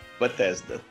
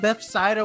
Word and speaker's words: Bethesda: for years and i'm gonna say it right bethesda ah you did it i it's been here it's literally been years in the making dude i if i would have heard bethsaida one more time i would have screamed at